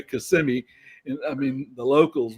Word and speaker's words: Kissimmee: It's called Kissimmee, but everybody pronounces it Kissimmee because it's Kissimm, and that's a big